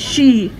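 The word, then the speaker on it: sìth: The Gaelic word for peace is she, S-I-T-H, pronounced she.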